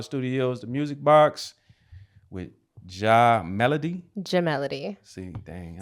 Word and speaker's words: je: You gotta put the teeth together. Oh, ja. Ja. There you go.